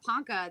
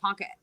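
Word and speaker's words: Ponca: uh I think they have moved at the Panka elk education center let me say it right um now they've moved to the farmers market in Panka which is literally just like quarter of a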